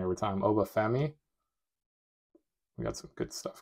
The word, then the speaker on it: Oba Femi: Oba Fi, pronounce it wrong every time. Oba Femi.